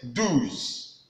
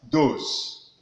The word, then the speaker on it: douze: Now, in getting these numbers clearly, 11 to 20, 11 says onze, then 12 says douze. Sometimes many people pronounce this as douze, but not. It's what? Douze.